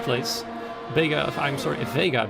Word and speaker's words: Vega: vega if i'm sorry vega vega i know somebody who's called um they are which is written the exact same way so that's why i pronounce it the spanish way i'm not entirely sure